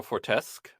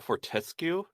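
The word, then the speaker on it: Fortesque: feeling uh we have Sir Daniel foresque or I think it's actually Sir Daniel fortescu I think they is actually how they pronounce it uh from medieval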